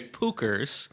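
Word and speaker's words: Puchers: Not only do they not How do you say it and how do you spell it? Right. I was just going to say it's Pookers and it's P U C H E R S.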